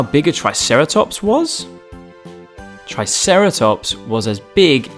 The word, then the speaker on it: triceratops: who do we have with us today triceratops try sarah tops can you say it with me try sarah